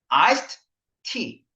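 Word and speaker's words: iced tea: 아이스 티라고 우리가 보통 알고 있잖아. 정말 아이스 티일까? 아이스드 티. 아이스드 티. 근데 그냥 보통 발음할 때 아이스 티 그러니까 아이스 티인 줄 아는 거지, 우리가.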